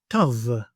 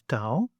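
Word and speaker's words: ταυ: Tav. Tav. You may know this letter as tau, and it represents the letter T in Greek with the same sound we have in English as in the words tequila or tango.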